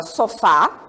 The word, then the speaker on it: sofá: Por exemplo, na língua portuguesa, se eu falar para vocês a palavra sofá, vocês percebam que o fá é a sílaba forte dessa palavra, não é isso?